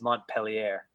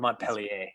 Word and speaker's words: Montpelier: it means happy mountain capital of Vermont is Montpellier there Montpelier sorry I pronounced incorrectly well wonderful well I I think